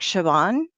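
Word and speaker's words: Siobhan: and I'm very sorry it's like Shaban is what it is but it's like s i o b h an or something is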